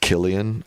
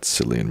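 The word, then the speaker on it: Cillian: Pronounced Killian. Oh, Killian Murphy. Not Selian Murphy.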